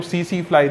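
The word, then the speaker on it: tsetse fly: है, वेक्टर पूछे तो सीसी फ्लाई। देखो स्पेलिंग जो होती है TSEFLY होती है और इसको सीसी फ्लाई प्रोनाउंस करा जाता है।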